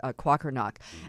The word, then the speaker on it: Kwakernaak: this, but her name's Shannon, I want to pronounce it correctly, Kwakernaak.